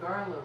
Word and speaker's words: Garla: So And the word Garla rhymes with Starla, her puppet that she gave to her grandchild.